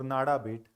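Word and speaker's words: Nada Bet: Write down one more from India called as a Nada bait. Nada bait. N-A-D-A-B-E-T. Nada bait. B-E-T. Nada bait. नादा बेट और नाडा बेट, पता नहीं गुजराती लोग कैसे pronounce करते हैं इसको.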